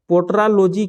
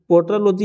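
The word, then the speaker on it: petrology: अगला सवाल देखिए, पोट्रालॉजी किसका अध्ययन है? पोट्रालॉजी जो है किसका अध्ययन है? तो पोट्रालॉजी यहाँ पे कुछ गलत लिखा हुआ है, ये इसका प्रोनाउंसिएशन जो है ना पेट्रोलॉजी होता है, ठीक है।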